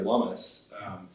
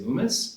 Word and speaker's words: Lummis: They always say Loomis. Yeah. And so it was like a constant, I was working for her, and it was a constant battle of like saying that rhymes with hummus.